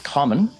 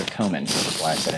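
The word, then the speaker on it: Comyn: junk common okay it's it's spelled differently than that c-o-m-y-n i've been told by our scottish viewers that it's common i think so komen originally okay so scotch gaelic sorry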